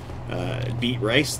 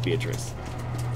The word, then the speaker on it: Beatrice: So when we come back, we're going to totally summon Beet Rice there, and yes, it's Beatrice. But it's spelled B rice.